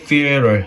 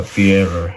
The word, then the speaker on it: theater: 이런 것들 좀 어려운 단어였고, 그리고 theater, 혀 깨물어 주셔야 됩니다. theater, 이런 것들.